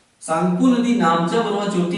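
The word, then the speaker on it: Tsangpo: सांगपो आधा ग शुरू में इंग्लिश में पढ़ेंगे तो टी लिखा होता है। टी साइलेंट होता है जिसे हम सांगपो कह सकते हैं।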